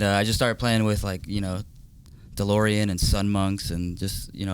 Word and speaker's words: DLRN: Is it DeLorean? Yeah, DeLorean. DeLorean. So, but it's spelled DLRN. Yeah.